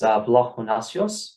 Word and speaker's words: Vlahonasios: It's Vlahonasios, but that's okay. Vlahonasios.